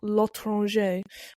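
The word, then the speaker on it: L'Étranger: I watched um The Stranger or Lron by Perfect Pronunciation.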